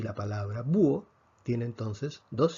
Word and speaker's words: búho: aquí tenemos un hiato tomemos la palabra búho también se escribe con h vemos que la fuerza cae sobre la un búho nuevamente la academia dice que para efectos de si la veo la h es invisible por lo tanto tenemos